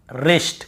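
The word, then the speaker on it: wrist: होता है wrapper wrinkle रिस्ट कहीं पर व कॉम सीधी सी बात है हमें जब भी ऐसे कहीं मिलता है वर के साथ एक साथ हमें केवल ऐसे पढ़ना है रोंग राइट रैप रैपर रिंकल और रिस्ट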